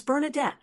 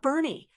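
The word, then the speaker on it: Bernadette: It's Bernardet, not Bernie.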